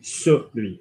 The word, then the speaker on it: celui: Good, just a little bit of attention on the pronunciation, Mrs. Shaw. Celui pour qui? Celui.